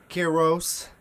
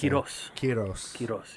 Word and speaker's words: Quiroz: was real young carros yeah yeah what's the proper way to say your last quiros yeah i know you